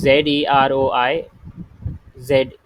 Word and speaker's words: zeroize: to do crypto key z royce rsa. So it is ZEROIZE. Okay, I don't know how do you pronounce it, but it's Z, not S. Okay, so there is no signature keys found.